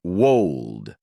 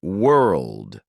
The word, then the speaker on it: world: For example, maybe you pronounce world as wold. By hearing yourself, you correct it to world.